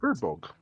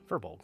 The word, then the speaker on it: Furbolg: Is it Fireberg or Furbolg? I don't know how to say it. Furbolg. Furbolg. Furbolg, thank you.